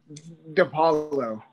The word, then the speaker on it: Dipaolo: Did I pronounce that right? Say that one more time. It's Dipaolo.